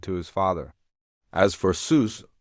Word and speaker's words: Seuss: As for Seuss, it's actually his mother's maiden name, and it's supposed to be pronounced Soy, like voice, but after years of everyone rhyming it with goose, he just went with it.